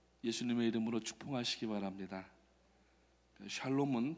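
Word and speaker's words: שלום: 예수님의 이름으로 축복하시기 바랍니다 샬롬은 발음을 잘하셔야 됩니다 조금 세게 하면은 살롬 그러면은 조금 이상한 어감이 되니까 아침에 이제 나올 때는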